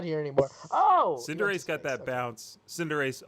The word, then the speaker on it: Cinderace: I think it's Cinderace. Cinderace, the football Oh, Pokemon. not Cinderface. Spelled with a U.